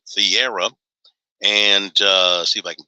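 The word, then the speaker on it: Thiero: Adu Thieira is how you pronounce it, Thieira.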